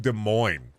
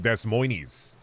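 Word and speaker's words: Des Moines: home about De Moine people don't even know how to pronounce de Mo they call it Des moies Indiana is really lame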